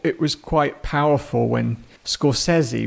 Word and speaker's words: Scorsese: was quite powerful when scori which apparently is how you should say his name stepped out well I